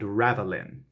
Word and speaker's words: ravelin: We start with, in fact, when I know what is meant by Mamelon and Ravelin. You can roll your R's for Ravelin if you want to as well.